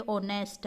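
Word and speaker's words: honest: जैसे एक स्पेलिंग होती है ओनेस्ट, हम पढ़ते हैं एच से शुरू करते हैं स्पेलिंग, लेकिन पढ़ते क्या है?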